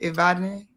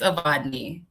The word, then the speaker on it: Aadne: Am I pronouncing your name right? Is it Ivadne? It's Aadne.